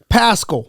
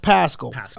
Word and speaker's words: Paschall: Paschall. Yes. Okay. So Paschall. Pronounced Paschall.